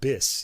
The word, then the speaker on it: BIS: records and he actually asked him how to pronounce the label name it is in fact bis yeah I've been saying be all these years CU that's I